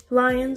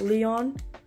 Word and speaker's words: lyOn: other but it's fine lions are so nice found out literally the day of the concert that is pronounced lion and not Leon like the name but it's okay you